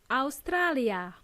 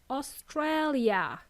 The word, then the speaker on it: Australia: And they are all pronounced differently. In Spanish, as well as in Serbian, or most other languages, we simply say Australia. In English, it's Australia.